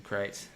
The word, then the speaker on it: Crait: Yeah, it's a crate, and you have to get a crate on it. It's just full of crates. This crate is spelled Crait.